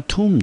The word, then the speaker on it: tomb: u 长音的音，但是 Indy 都要特别要提醒同学的是，这边的 b 它是不发音的，所以这个字呢，我们直接念成 tomb。tomb，那 tomb 这个字呢是属于可数名词，中文翻成墓或者是坟地。那我们看英文解释：a large structure，